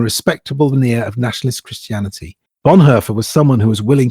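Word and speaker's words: Bonhoeffer: I've always said Bonhofer. That shows you what I know about speaking German. But it's Bonher. Is it? It's Bonher. Yes.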